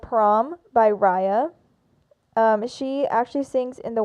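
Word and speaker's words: Riah: And it's Raya spelled like R-I-A-H.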